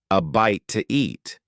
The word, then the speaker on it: a bite to eat: with a vowel sound, we often add an extra sound to make it easier to say. In this case, the extra sound is w. A bite to eat.